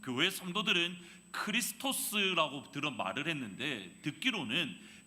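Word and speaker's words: Χριστός: 근데 여기서 흥미로운 것이 그리스도 라는 헬러 단어는 에 팔러 단어는 크리스 토스 라고 발음을 합니다 크리스 there's 라고 발음을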